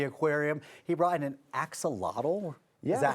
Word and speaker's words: axolotl: He brought in an axolotl.